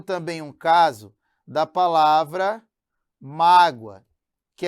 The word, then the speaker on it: mágoa: Eu tenho também um caso da palavra mágoa, que é diferente de magoa. Olha a sílaba tônica em mágoa, representado pelo acento gráfico. Em magoa é acento da sílaba tônica, né? Que é o acento prosódico.